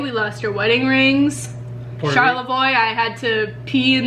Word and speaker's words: Charlevoix: Charlevoix, Michigan. I thought it was Chevrolet. Charlevoix. I've been saying it wrong this whole time.